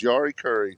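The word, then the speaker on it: Jari Kurri: Now, Ashley knows his stuff, but to know that it was Yari Curry, to pronounce it that way, you're a man.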